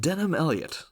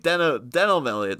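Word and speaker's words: Denholm Elliott: But to believe Denham Elliott is spelt like Denholm. Yeah. So it's not Denham, but, you know. Same pronunciation, though, pretty much, you know.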